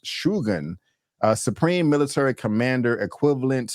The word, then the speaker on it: Shogun: with the pronunciation um I'm used to saying Shogun but it's actually pronounced shugan a supreme military commander equivalent to a Duke